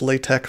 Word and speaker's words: LaTeX: You know, when I see the word latex, I actually read it as latex because there's a program by that name which is spelled that way but pronounced latex.